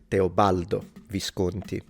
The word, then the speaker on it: Teobaldo Visconti: so not a big deal, but it is Teobaldo Visconti.